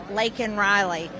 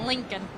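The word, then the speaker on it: Laken Riley: I yelled out to him say her name lak and Riley and sure know if he had this pen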